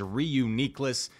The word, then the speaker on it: Reuniclus: way not that way I looked up the official Pokemon pronunciation and it says re uniess there are people that